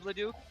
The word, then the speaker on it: Leduc: It is Leduc. The Duck. I mean, with a movie franchise and a NHL team, we've never had a duck in this league.